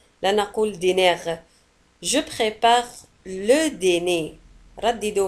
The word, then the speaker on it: dîner: Le dîner. العشاء هو le dîner. Le dîner. لاحظوا على أن dîner تنتهي بR ولا تنطق. لا نقول dîner.